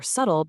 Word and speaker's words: subtle: You don't pronounce the B in climb or bomb because it's following that M, and you don't hear it in doubt or subtle because it comes just before a T.